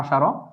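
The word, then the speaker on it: عشرة: আশারা শব্দের অর্থ হচ্ছে 10, এটি আমরা উচ্চারণ এখানে লিখেছি এভাবে আশারা।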